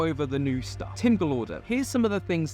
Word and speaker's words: Gallaudet: Galorder. Right, that's how you pronounce it. Galorder. What did I say? Gallaudet. I can't remember what I said, but it's Galorder.